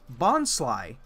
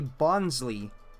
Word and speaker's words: Bonsly: And its pre-evolution is called Bonsly, and you'll hear motherfuckers out there say Bonsley. As if it's not a combination of bon from bonsai, sly as in sneaky, bonsai, sly, bonsai, bonsly.